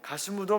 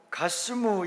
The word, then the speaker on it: 가스무: 6절에 보면 또 가스무, 이방인 가스무라는 이름이 나오는데 그것은 게셈의 아라비아식 발음입니다.